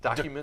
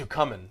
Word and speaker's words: Ducommun: Document. Ducommun.